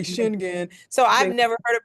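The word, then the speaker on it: Schengen: European so you pronounce it what schlagen yeah Americans say shinan so I've never heard it pronounce that way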